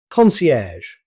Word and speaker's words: concierge: Concierge. Here's another word you'll hear in hotels and luxury businesses. Concierge. Native speakers usually pronounce it concierge. Notice the soft -ge sound at the end.